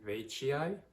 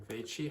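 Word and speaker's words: veitchii: next we have the anthurium vaciai or anthurium veichi however you want to pronounce it this one has some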